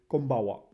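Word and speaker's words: こんばんは: Well, that's how you actually should read it, but it's konbanwa.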